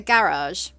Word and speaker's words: garage: like made me understand the three different pronunciations of it hold on i need to try and recollect my thoughts and work out how i pronounce it so i call it a garage there we go right